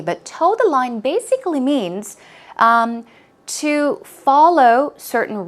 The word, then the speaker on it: toe the line: line toed the line it's pronounced exactly the same way but toe the line basically means to follow